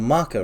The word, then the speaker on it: Mako: Or a Mako reactor, if you want to pronounce it correctly.